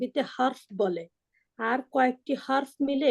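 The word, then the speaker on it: حرف: যদি বাংলা শব্দ বলেন তাহলে ঠিক আছে, তা আরবি শব্দকে যে হরফ বলে তাহলে সঠিক উচ্চারণ করলো না ভুল উচ্চারণ করলো? ভুল ভুল। করলো। আর হার্ফ হার্ফ হারফ, আজবর হার, হারফ।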